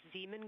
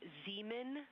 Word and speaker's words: Zeeman: Integrity Science, we believe that's Zeeman Crater. I floated away from the speaker. Say it again, please. We believe that that is Zeeman crater.